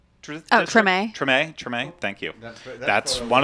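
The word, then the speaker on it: Tremé: Like, we got, in my other video I posted, we got time to go to Dookie Chase's in, how's it pronounced? Is it Treme? Treme.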